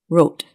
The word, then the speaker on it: rote: Wrote.